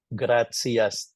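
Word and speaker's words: gratias: quotations in their text T followed by I and another vowel is pronounced as C like in graia gracias TV is thanks to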